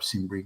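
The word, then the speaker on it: Cimbri: kimry tribe CB that the kimry tribe simri you can also pronounce it as that kicked off a chain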